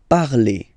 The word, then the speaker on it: parlez: Okay, remember a Z, when you combine them together, you get the sound E. Vous parlez.